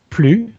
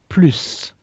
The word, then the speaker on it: plus: You can say it plus or plus. Pronouncing the final S.